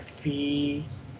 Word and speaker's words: في: So this word, when written separate, it's pronounced like fi. I have elongated the pronunciation of ya, fi. But when we have a sukoon after this, we don't read ya mada, we just read fa kasra lam sakin. I ignore the ya because of lam sukoon. So it become fill. Ya is not pronounced here.